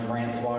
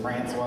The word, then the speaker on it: Francois: We just pronounce it differently. I'm Francois because I'm from North Carolina, so it's Francois. It's got a little southern twin into it.